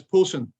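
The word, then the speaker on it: Pollexfen: pollock's fan p-o-l-l-e-x fem that's actually pronounced in the unusual english way as polson so george poulton was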